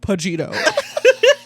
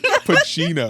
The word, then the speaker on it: Pacino: It's like Pagino. Is that how you say it? Pacino. Yeah. dude. That sounds Al wrong. There's Pacino. no shot. You said Al Pacino. Pacino sounds more Italian.